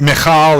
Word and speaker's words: Michal: The other child of Saul that's involved in chapter 19 is Michal. And Michal is probably the correct pronunciation, but, you know, Gene doesn't want to sit there if I start trying to say that a lot.